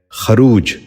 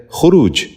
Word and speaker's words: خروج: خودکشی۔ آٹھواں لفظ ہے خروج۔ یہ غلط تلفظ ہے، درست تلفظ ہے خروج۔ دوبارہ غور سے سنیے،